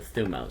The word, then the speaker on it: thymos: Is thymos, thumos. People pronounce it incorrectly, so thumos.